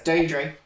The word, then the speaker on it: Deirdre: Like, so it's Deirdre.